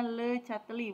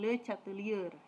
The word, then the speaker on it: Le Chatelier: azas Le chatelier yah dibacanya Le chatelier bukan Le chatelier rata pilek catling apa